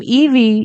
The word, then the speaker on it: Evey: The name Evey is pronounced E V with E being the fifth letter of the alphabet, V being five in Latin, and Y being 25th letter.